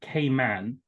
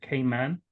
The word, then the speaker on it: Cayman: way to pronounce it Cayman it I I think we've reached a point where both pronunciations are widely used and accepted but um Cayman is